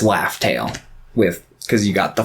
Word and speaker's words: Laugh Tale: alert the fact that raftal is actually pronounced laugh tale with because you got